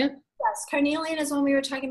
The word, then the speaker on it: carnelian: Yes, carnelian is one we were talking about earlier.